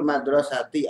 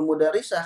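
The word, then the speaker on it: مَدْرَسَةِ: 1 2 3 BR Babul madrasati atau pintu sekolah ya bukan Babul mudarisah karena Madrasah dengan mudarisah kalau sudah gundul tulisannya sama kalau kita kalau membacanya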